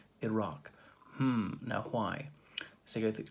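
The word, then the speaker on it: IRAC: questions is iraq no not the country not spelled like the country i r a c iraq hmm now why let's go look at issue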